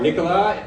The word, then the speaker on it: Nicolas: We're going to start off with Nicholas, or Nicolas, if you pronounce it correctly in French, from Aura, formerly, many of you know him as Nicholas from Video Stitch.